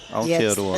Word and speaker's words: Aotearoa: Yeah, it was more the roar, Aotearoa. It's the rolling of the R's that always gets them.